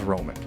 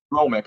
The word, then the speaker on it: Romick: Romick, right? Romick, yeah.